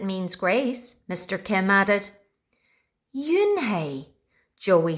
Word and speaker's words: Unhei: Yes, it's pronounced Yunhei. And it means grace, Mr. Kim added. Yunhei, Joey said slowly, and this time perfectly.